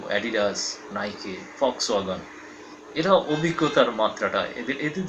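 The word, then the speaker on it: Volkswagen: বা ভক্সওয়াগন যেটাই বলি, যদিও জার্মান উচ্চারণে ফক্সওয়াগন, জনগণের জন্য গাড়ি, আমাদের দেশে যেটা ভি দিয়ে লেখা হয় সে কারণেই আমরা ভক্সওয়াগন বলি।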